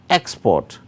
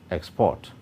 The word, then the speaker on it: export: for verb or noun, because both have the same spelling and are produced differently. As such, noun and adjective. Export, verb, export.